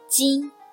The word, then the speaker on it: 巾: Its pronunciation 巾.